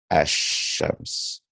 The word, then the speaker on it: الشمس: The lamb has been assimilated into the sheen and will not be pronounced consonantly as shams. It's pronounced Ashams.